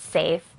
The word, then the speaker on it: SAF3: for SE air fire it's actually spelled saf3 but pronounced safe and it's a multi-